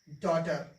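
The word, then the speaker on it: daughter: तो जी एच का उच्चारण नहीं करेंगे, इसे पढ़ेंगे लाइट, इसको पढ़ेंगे फाइट, ये थॉट, डॉटर।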